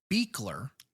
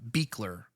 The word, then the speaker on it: Buechler: Uh, the director, we have actually spoken about several times throughout this show so far because um, the director, John Carl Beckler, Beckler, I've been pronouncing his name wrong every single time, which is no surprise to anyone.